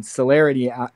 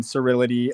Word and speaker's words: celerity: But people say it wrong all the time. Cerility, celebrity, celery. We have to make t-shirts that have all those words crossed out and then a circle that says celerity.